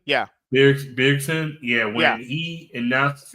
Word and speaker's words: Bjergsen: Yeah, Bjergsen. Yeah. Bjergsen.